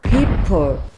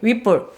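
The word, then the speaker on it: Whipple: 휘플. No. 휘플. repeat. 오케이. 윗볼. 굿. 그래서 그분과 같이 일을 하면 영어 발음 신경 쓰고 그걸 이제 배우고 있습니다.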